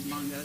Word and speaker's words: Mongo: It looks like the word mango, but the French pronunciation is Mongo, so that's what it is.